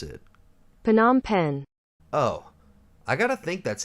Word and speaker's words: Phnom Penh: Now, how the hell do I pronounce it? Phnom Penh.